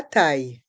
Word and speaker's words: taille: Le prix, la taille. Le prix, la taille. Dans le mot prix, le X est muet. Le prix. La taille. Dans le mot taille, les lettres I, deux L se prononcent IE.